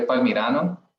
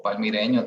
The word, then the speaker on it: palmirano: Se dice palmirano. Palmirano. O palmireño también se puede utilizar.